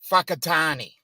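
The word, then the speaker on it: Whakatāne: that there twice not anything that starts with a high a wh is pronounced as an F so there is a place and watching the weather reports right there is a place that is spelled w h i k i t n e and it is pronounced whakatani so when you're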